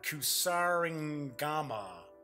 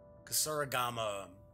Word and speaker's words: kusarigama: Yeah, I can't even pronounce that. It's Kusarigama. Kusarigama.